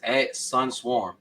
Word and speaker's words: Suncworm: Yeah, for me, all of my social medias is @Suncwom, but it's spelled SUNCWORM.